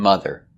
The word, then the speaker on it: mother: Brother and mother. Both spelled with O, but pronounced with the relax sound.